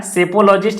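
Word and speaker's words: psephologist: का मतलब होता है सेफोलॉजिस्ट एपिसोड यहां पर पी इसका साइलेंट रहता है तो सिंपल logistries को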